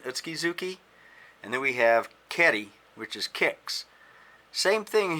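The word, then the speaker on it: 蹴り: You notice the word for kick is Keri with a K, but when you put a word in front of it like Mai, it becomes Mai Geri with a G.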